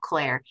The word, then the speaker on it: CLAIRE: launched the industry's first metadata-driven AI engine called CLAIRE. And in fact, the way that it's spelled, it's C-L-A-I-R-E.